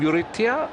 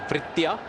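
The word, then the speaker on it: Vriitya: Eurythia Arvind? Is that the right name? Yeah, it's a Vrithya. Vrithya, okay, Vrithya. It's a V, right? I saw it like a U.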